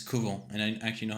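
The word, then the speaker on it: couvent: the convent Convent Kent in French there's no n it's kuo and I actually know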